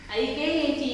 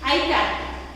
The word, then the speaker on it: Ikat: So pronunciation is I as in it. In it we pronounce I like E, not I.